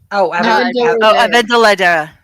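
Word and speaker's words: Avendoraldera: Avendasora. Not Avendasora. Avendaledera. Thank you so much.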